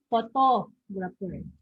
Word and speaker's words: photographer: Okay, the stress is on the second syllable, photographer.